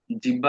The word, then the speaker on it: জিহ্বা: আসলে জিহ্বার আসলে উচ্চারণটা কি জানেন? জিহ্বা না, জিহ্বা আমরা বলি না, উচ্চারণটা হচ্ছে জিহ্বা। ঠিক আছে, হ যোগ ব এর যে উচ্চারণটা, হ যোগ ব, ওইটার উচ্চারণ হয় জিহ্বা।